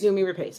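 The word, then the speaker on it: Noomi Rapace: I think that's what makes I'm going to mispronounce her name too is it numi repace yes numi repace okay that's what makes her portrayal and Rooney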